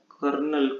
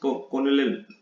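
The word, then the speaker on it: colonel: Mummy can be very much like a कर्नल commanding a unit. यहाँ देखिए इस कॉर्नल, बट इसको pronounce करने, कर्नल एक बड़ी पोस्ट होती है उसमें, आर्मी आर्मी में।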